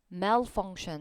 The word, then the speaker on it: malfunction: malfunction 이렇게 읽으셔야 돼요. 이 A의 발음 기호가 이렇게 표기되기 때문에 apple이랑 똑같은 S 사운드예요.